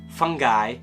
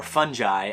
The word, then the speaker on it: fungi: in case you're wondering fungi or fungi I've heard him pronounced both ways I kind of like